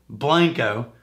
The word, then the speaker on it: Blanco: Blanco. Blanco. Yeah, but in Texas we pronounce it Blanco because that's how we roll.